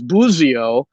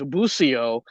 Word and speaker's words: Busio: asked him so the the italian pronunciation apparently is boozio the american pronunciation is busio and someone asked him